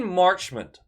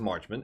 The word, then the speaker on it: Marchment: guy exist maybe mason marchment i don't even i don't even know how to say that i think it's marchman it's spelt like marchman 47 points in 54